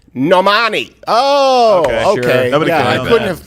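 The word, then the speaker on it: Normani: one-off another female singer and i don't know normandy who even knows at this point you know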